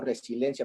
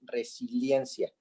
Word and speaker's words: resiliencia: de d de dicción porque yo pronuncio resilencia pero es resiliencia entonces la palabra y